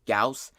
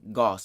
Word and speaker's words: Gauss: for this video i know his name is pronounced gauss but through this video i'm going to be pronouncing his name goss because it's so much easier and i don't